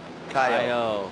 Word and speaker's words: Caio: How do you say that first part? Kiao? Chow? Chow? Sounds good. Chow. Chow Belly. Chow Belly. Caio. Okay, thank you. Caio.